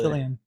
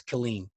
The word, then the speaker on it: Killeen: And from what I could put together, where the river is in Killeen, Texas, to Fort Hood, Killian. it's Killeen.